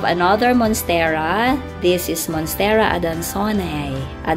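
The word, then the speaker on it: adansonii: This is Monstera adansoniae. Adansoni. Pero ang correct pronunciation daw po, Monstera adansoniae.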